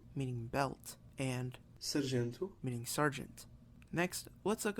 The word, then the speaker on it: sargento: These vowels become nasalized if M or N precedes the vowel, and M or N will not be pronounced as a consonant itself.